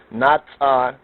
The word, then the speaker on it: natsar: Natsar, some say natsar.